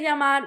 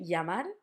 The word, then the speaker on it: llamar: We would say it for example, llamar. Llamar. We could say llamar, we can say llamar, like a y. Or some people in some countries would say llamar, like a j.